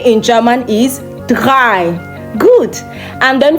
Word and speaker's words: drei: 3 in German is drei. Drei. D-R-A-I. Drei. Now, another thing is, German R is pronounced differently from the English R.